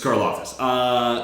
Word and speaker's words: Karlaftis: It's Karlaftis.